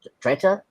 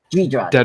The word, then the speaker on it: Dedra: Uh, Dread uh, Dreta uh, I'm sorry I it's hard for me to pronounce it. Uh, Dedra. Dedra.